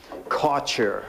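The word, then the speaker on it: Kärcher: nice the company is CER okay I'm saying CA because it's spelled like Archer with a K in front of it and this guy weighs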